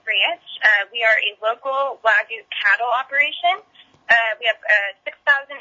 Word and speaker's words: Wagyu: There's lots of, technically it's called Wagyu, but everyone kind of has their own twang to it. So even on our team, the ranchers, Al and myself, we all kind of pronounce it differently. You'll find Wagyu, you'll find Wagyu. Depends on where people are from and what they've heard.